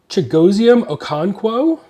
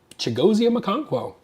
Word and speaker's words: Chigoziem Okonkwo: I prefer to like the White Hot Rookies, but Jordan Love, Puka Nacua, Chigoziem Okonkwo. So fun fact here, I worked really hard to learn how to pronounce his name.